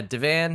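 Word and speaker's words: divan: to the entrance where you came in a Devon is that how you pronounce it yeah Devan I don't remember my grandmother pronounced it with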